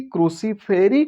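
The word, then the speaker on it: Cruciferae: Brassicaceae, क्रूसीफेरी, क्रूसीफेरी, Brassicaceae, इस तरह से आप इसका प्रोनाउंसिएशन करेंगे।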